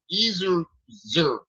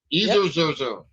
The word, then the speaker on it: Ezerzer: Woodside, and the other dude name is Albert Ezerzer. Hey, Saint. Ezerzer. It's spelled E-Z-E-R-Z-E-R.